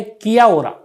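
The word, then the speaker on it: Kia ora: शब्द भी लिखे हैं, मैं पता नहीं सही प्रोनाउंसिएशन करूंगा कि नहीं। एक ये है किया ओरा, तो किया ओरा न्यूजीलैंड में हेलो को बोलते हैं, किया ओरा यानी हेलो।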